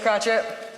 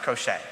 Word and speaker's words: crochet: do what you mean Mr crotchet actually for legal reasons it's pronounced crochet welcome to the family